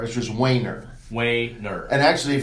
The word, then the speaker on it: Wehner: an ego so but the best way to do it from the German pronunciation is w a y NE r is just Waner weight nerve and actually